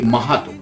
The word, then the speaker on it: মাহাতো: তো চন্দন মাতো, যাকে আমরা বাংলায় উচ্চারণ করি মাহাতো, চন্দন মাহাতো।